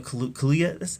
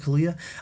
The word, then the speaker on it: Kaluuya: In fact, I expect Daniel Kaluuya. I think that's how you say it, Daniel Kaluuya.